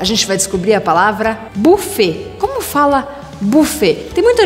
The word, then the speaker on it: buffet: Buffet, buffet. Voilà. Não pronuncie esse T no final.